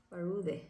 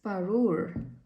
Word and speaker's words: Parure: Parude. I said Parude? It's Parure.